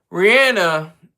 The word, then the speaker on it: Rihanna: Rihanna, that's how you pronounce her name.